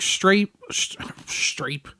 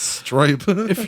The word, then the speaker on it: Stripe: But like, could you imagine if, like, Strape... Jeez, I can't fucking talk. That's the third time you've gotten his name wrong, brother. It's Stripe.